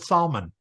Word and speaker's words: Salmon: was the father of salmon okay you could also pronounce it Salon okay Solon was the